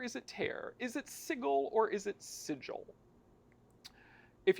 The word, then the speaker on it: Sigil: refer to it as sigle right but that being said there is another English word that is spelled the same way that is pronounced sigil right whether you want to call it sigle or sigil your table